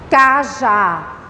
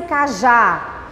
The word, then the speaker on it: cajá: Ah, me dá esse cajá. Olha aqui o último, a última sílaba, eu puxo um pouquinho. Cajá. Ela é mais forte, cajá. Olha só, cajá. Acentuei. Porque terminou com A.